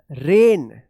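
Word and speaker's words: reign: आर ई आई जी एन रेन एस ओ वी ई आर ई आई जी एन क्या पढ़ेंगे? सोन सोरीिन उच्चारण होगा।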